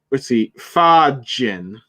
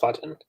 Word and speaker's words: Fajin: Fajin. Yep, that's how you say it. It's Fajin.